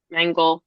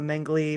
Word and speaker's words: Mengele: Mengele. I've heard people pronounce it both. Mengele, Mengli, Mengle, you know, Mengle.